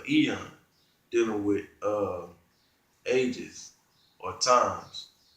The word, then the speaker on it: Aeon: It's Ion, I believe. Aeon. How you say it? Is Ion or Aeon? Eon. Salakia. So I'm pronouncing it incorrectly, but it's Eon, dealing with ages or times.